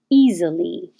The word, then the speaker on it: easily: it was just certain easily that looks like an s but sounds like a z and the same for